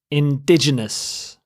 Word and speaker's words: indigenous: next word is indigenous indigenous you stress the second syllable dig indigenous if a person is